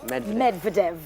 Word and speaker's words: Medvedev: Russian Prime Minister Dmitry Medvedev, please pronounce that name for me, I'm not good with it. Medvedev.